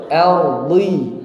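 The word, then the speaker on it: أرضِ: Bukan ordu. Ardi.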